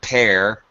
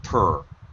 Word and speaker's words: per: p r purr uh make sure you're not pronouncing peir it's not a long sound it's actually the schah sound it's per once per day yeah